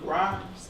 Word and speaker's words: Grimes: I mean, they calls me Grimes. It rhymes with crimes.